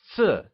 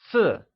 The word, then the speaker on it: 四: 4 translates to 四 and is said with a falling tone. Can you try and say 四?